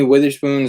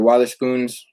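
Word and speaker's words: Wotherspoon: spoons or water spoons it's spelled w-o-t-h-e-r-s spoon so people are people are saying it wrong they're spelling it wrong man even dude i even see like sneaker websites spell it witherspoon but it's water spoon it's like like wah not whit you know totally different so yeah uh 60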